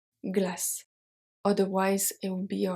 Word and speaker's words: glace: Une glace, so une glace, the final E is not pronounced, is silent, but it helps the C to become a soft C, to be pronounced as a S. Glace.